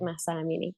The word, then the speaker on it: Mahsa Amini: Is that how we That's pronounce exactly it? how you say it, Mahsa Amini.